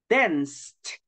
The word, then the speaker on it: danced: Just please don't forget to exaggerate the letter T, okay? Danced.